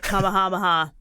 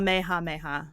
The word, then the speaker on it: Kamehameha: I'm going to keep pronouncing it Kamehameha, like a Californian would. So so how are you supposed to pronounce it? Did you figure it out? Or I was kind of close. It's called Kamehameha.